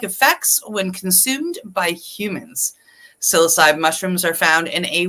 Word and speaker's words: Psilocybe: So how do you pronounce that, Cindy? Psilocybe.